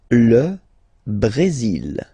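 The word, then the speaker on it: Brésil: L Brazil. L Brazil. Okay. You will pronounce the final L here. And then remember accentu goes like a Brazil.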